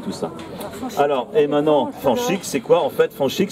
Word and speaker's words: Fanch: Le S peut très souvent se prononcer ch. Et en plus on enlève le R, c'est plus facile comme ça. Donc il reste Fanch.